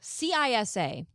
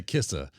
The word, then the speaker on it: CISA: We've gone into, debates about how this is pronounced. CISA, CISA, says U.S.